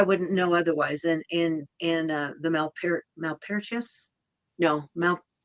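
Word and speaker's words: Malpertuis: Yeah, that's so she's guided me toward quite a few decks that I wouldn't know otherwise, and the Malpertius. No, how do you say that? Malpertwee.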